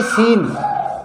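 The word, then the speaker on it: scene: ये साइलेंट रहेगा, ऐसे सीन, इसमें सी साइलेंट रहेगा, एस के बाद सी आ रहा है तो ये सी साइलेंट रहेगा, सीन यानी दृश्य।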